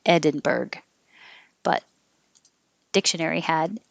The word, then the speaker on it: Edinburgh: caveat caveat edinburgh which i also think i've heard a lot of americans pronounce it berg so you will hear people say edinburgh but dictionary had edinburgh mastered math the vowel